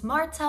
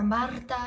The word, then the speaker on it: Marta: if you're new here my name is Marta or Marta if you can roll your r's but either way is perfectly fine the best time of